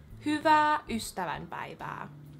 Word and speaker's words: Hyvää ystävänpäivää: Could go over how to both say and pronounce happy valentine's day in finish so in finish happy valentine's day is Hyvää ystävänpäivää hyvää HY vaää HY u HY vaää hyva